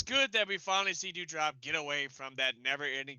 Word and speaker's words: Doudrop: You got to say it right. It's Doudrop.